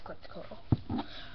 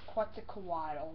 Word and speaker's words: Quetzalcoatl: Just, that's Quetzalcoatl. It's actually pronounced Quetzalcoatl, but I call him Quetzalcoatl.